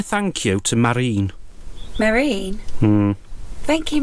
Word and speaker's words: Marijn: It's spelt M-A-R-I-J-N, which to me sounds very Swedish, maybe? What are you getting at? Marine. Marijn. Because they don't pronounce the J's over there, so Marine.